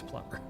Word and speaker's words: Plumer: Nathaniel E. Plum(b)er is how he pronounced it. Again, if you talk to the old timers, who've been here for a long, long time, they'll all tell you it's Plum(b)er.